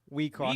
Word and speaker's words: WIXOSS: We cross. We cross, man. WIXOSS.